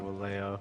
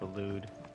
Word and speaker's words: Waloed: No, I said Waleo. It's Waloed. How do you pronounce it?